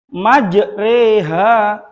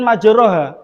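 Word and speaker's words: مجراها: Apa contoh bacaan dari imalah? Majreha pada tulisan majha. Pada tulisan majariha di sini tertuliskan majroha. Bacanya bukan majroha.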